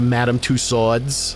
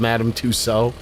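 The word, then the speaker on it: Madame Tussauds: And when you go to the wax museum, you're going to madam sods and instead of madam touso because I know the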